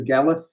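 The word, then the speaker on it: Dolgellau: i went to the gala it's spelled like dogely but it's uh pronounced the galath uh north north wales north west wales and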